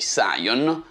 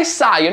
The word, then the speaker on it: Psion: Siamo nel 1994 e la piccola azienda inglese Psion, che credo che si pronunci Psion, primeggia nella produzione di dispositivi mobili.